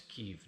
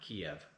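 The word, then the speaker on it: Kyiv: Correct non-rusified pronunciation is Kev, not Kiev.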